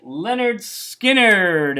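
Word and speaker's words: Lynyrd Skynyrd: Next up, Leonard Skinnard, and this is called Collectibles, spelled like Skinnard, and a really excellent collection.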